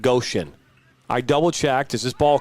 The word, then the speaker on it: Goshen: I double-checked. It is pronounced Goshen.